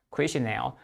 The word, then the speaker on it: questionnaire: A， OK，那你说哪几个字会考呢？我觉得这几个字比较会考啊、哦，这个 questionnaire，啊、哦，小心呢、哦，这个字不太好记，我是这样记，有两个 N L E 不发音的 questionnaire，然后呢，consider accounting，会计的，事实上这个字可以等于 book keeping，啊，记账然后等等的，可以了哈。